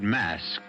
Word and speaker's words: masque: of the Red Death the word mask you should know is spelled m s QE and means masquerade and